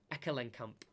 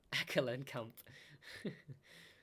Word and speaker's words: Ekelenkamp: give me a second, Ekelenkamp, that's how you say it, Ekelenkamp.